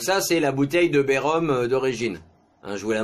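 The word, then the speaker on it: Bay Rhum: Ça s'écrit B-A-Y, plus loin R-H-U-M. Ah, bah voilà. Ben c'est ça, Bérom.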